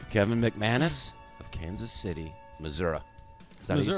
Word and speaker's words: Missouri: And today my guest is my buddy Kevin McManus of Kansas City, Missouri.